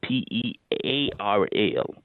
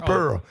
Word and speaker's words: Pearl: to say my name right it's Miss p p e a r l p oh miss Pearl yeah Pearl so he can you can put